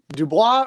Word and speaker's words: DuBois: It's Du Bois. Du Bois. Okay, Brendan Du Bois. It actually pronounces as Du Bois. Oh, as Du Bois. in the boys.